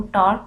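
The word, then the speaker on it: tau: तो टॉर्क जो है फोर्स और मूवमेंट आर्म का जो है वो प्रोडक्ट है। टॉर्क को एक ग्रीक लेटर से शो करते हैं जिसको टा प्रोनाउंस करते हैं और ये इक्वल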